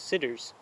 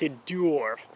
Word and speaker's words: Siddur: I was talking to someone and I said, yeah, I'm getting a bunch of sidders. And they're like, that's not how you pronounce it, it's Siddur.